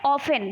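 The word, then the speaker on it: often: पढ़ने क्या है नेस्ले फिर क्या है ऑफेन हम क्या बोलते हैं ऑफेन लेकिन लिखने क्या है ऑप्शन ठीक है टी क्या हो जाता है साइलेंट हो जाता है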